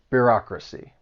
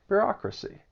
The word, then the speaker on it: bureaucracy: It has four syllables and the stress is on that second syllable. Bureaucracy. Bureaucracy.